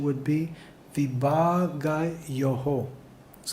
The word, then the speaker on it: विभागयोः: the pronunciation would be vibhāgayoḥ. Is correct? Vibhāgayoḥ. Okay? Let's try it again. Tattva-vit mahā-bāho. Guṇa-karma-vibhāgayoḥ. Now some are saying yo, and some are saying yoho. So which is correct? Yoho.